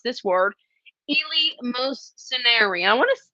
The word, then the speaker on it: eleemosynary: facing all of us, and that's how you pronounce this word, eleemosynary.